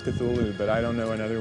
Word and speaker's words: Cthulhu: elaborate as this story was the spelling and pronunciation of the ancient names was even more so cthulu of course the discrepancy on the on the